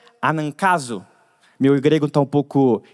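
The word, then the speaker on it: ἀναγκάζω: A raiz dessa palavra que se pronuncia anankazo.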